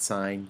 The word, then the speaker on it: sine: it looks like it says sin but please pronounce it signed yet kind of sound silly if you say